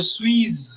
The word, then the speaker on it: suis: You can either say je suis Indien, or you can also say je suis Indien. The last S of the word suis is usually silent, but we can at